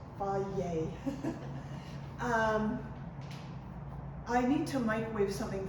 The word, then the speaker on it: Fage: Yeah, pronounced Fage.